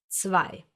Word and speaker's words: zwei: Listen to this, zwei. Zwei. The German Z is called Z because you read it as an Z, like in cats or tsunami or pizza.